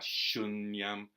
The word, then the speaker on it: śūnyam: app he's a light syllable the the strong syllables are our shun yeah yeah shun YUM so you want to emphasize in English would